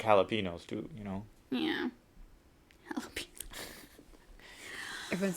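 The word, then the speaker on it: jalapeño: is the enemy so it's the n with the curvy accent mark at the top i just said n jalapeno yeah right no oh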